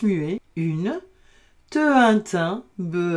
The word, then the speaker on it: thym: un pain, lapin, au, ici j'ai un H muet, donc je vais faire T et un, tin. Vous savez, du thym.